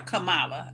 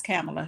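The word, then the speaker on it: Kamala: you say it wrong if somebody say it wrong just say excuse me that's camela Harris Camala uhuh yeah no no no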